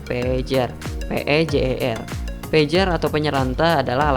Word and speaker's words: pager: yang ketiga adalah pager bukan caranya buat benda ini oleh orang Sunda ya tapi cara bacanya adalah pager pager pager atau penyeranta